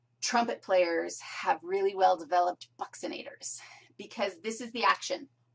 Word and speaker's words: buccinator: nator buxin nator looks like it should be pronounced buccinator or Bator it's buxin nator and here's where it is it's a deep